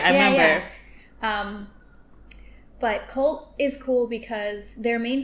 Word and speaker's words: CVLT: So I was at a studio called Cult, and do they still exist? They do still exist. It's spelled CVLT instead of CULT.